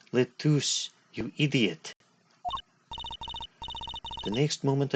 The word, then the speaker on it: LeTouse: Lettuce were talking about something. For the last time, his name is Letus.